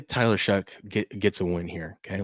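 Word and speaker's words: Shough: called that guy Tyler Show that I've heard because it's it's it's spelled that way, but it's pronounced Shuck.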